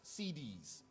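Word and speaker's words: Siddis: Not like CD, it's spelled S-I-D-D-I-S, CDs.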